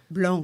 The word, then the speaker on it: Blanc: Blanc. Excuse me. Yeah. Get my pronunciations right.